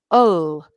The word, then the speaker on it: will: And the most common pronunciation of will, the most common, is ul. And I can say Lin'll get it, or him'll get it. My Right. son So will get it.